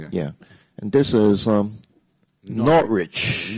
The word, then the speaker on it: Norwich: and this is um not rich Norwich just forget the W yeah again again the W is not pronounced not rich yeah what about this